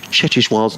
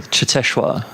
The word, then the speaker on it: Cheteshwar: You pronounce Cheteshwar's name far better than I do. Cheteshwar.